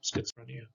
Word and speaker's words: schizophrenia: sch okay and it's that's schizophrenic okay schizophrenic schizophrenia z sound okay the z sounds z so